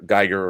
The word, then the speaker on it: Giger: Geiger or Giger, however his name is pronounced. I've always said Geiger, but maybe it's Giger.